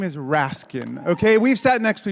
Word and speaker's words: Raskin: his name repeatedly and saying Raskin when it's actually Rasin I let the clip